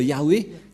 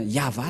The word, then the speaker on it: Yahvah: du ça ne devrait pas du tout être Yahwé qui on induit en erreur les catholiques romaines car dans le le chetoras et bien yava la la prononciation et on va prendre en